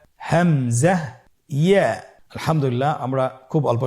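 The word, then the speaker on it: همزة: হামজা হরফটি উচ্চারণ ক্ষেত্রে বারিক করে উচ্চারণ করতে হবে এবং এখানে টেনে পড়া যাবে না, দ্রুত পড়তে হবে। আপনারা আমার সাথে বলুন হামজা। হামজা।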